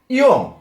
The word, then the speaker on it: ঞ: এটা আমরা সবাই জানি কি নিয়, নিয় কিন্তু এটার উচ্চারণ নিয় হবে না, এটা হবে ইয়।